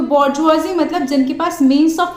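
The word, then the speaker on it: bourgeoisie: Conflict exist करती है between बॉर्जुआजी and proletariat. तो इन दोनों वर्ड्स को कुछ इस तरीके से ही प्रोनाउंस किया जाता है। बट अभी होते क्या है, बॉर्जुआजी प्रोलेटेरिएट, तो जो हमने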